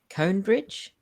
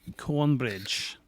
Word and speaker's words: Cornbridge: don't live in uh i always mispronounce it she said cone bridge i believe it's cornbridge but i i think